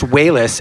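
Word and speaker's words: Walas: it for the first time we got Chris whis actually is how you pronounce his name uh and Rick Baker and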